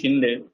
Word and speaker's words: Shinde: Basically, it's Mahaji Shinde. East India, the British could not spell it. They could not pronounce Shinde, so they used to say Shindia.